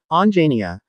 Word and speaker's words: Anjaneya: As the son of Anjani, Hanuman was called Anjaneya, pronounced Anjaniya, which literally means, born of Anjani, or son of Anjani.